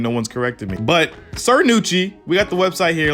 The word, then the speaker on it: Cernucci: and one thing i'm realizing is that it's pronounced sir nucci not sarah neutral like i've been saying and no one's corrected me but sir nucci we got the website here let's go ahead